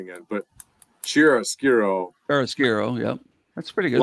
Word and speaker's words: chiaroscuro: Which I mean, you're gonna have to help me with the pronunciation again, but chiaroscuro Chiaroscuro.